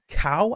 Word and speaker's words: Cau: for the coach of Cal, I think is how you pronounce his name. C-A-U. I assume that's Cal, like Macau.